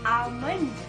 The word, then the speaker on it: almond: उसका सही pronunciation है almond. L is silent in this word.